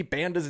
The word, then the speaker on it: Banda: I didn't even know we were saying Anthony Banda's name wrong.